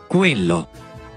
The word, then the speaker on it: Quello: La U que sigue a la Q es muda en español, mientras que en italiano se pronuncia. Queso. Quello.